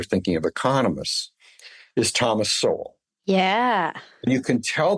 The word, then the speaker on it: Sowell: of economists is Thomas Sowell. Yeah. And you can tell they've read him rather than heard him or heard his name pronounced, because they'll often say Thomas Sowell. That's how it's spelled.